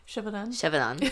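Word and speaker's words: Gévaudan: Shevadon. Thank you. I never know how to pronounce that.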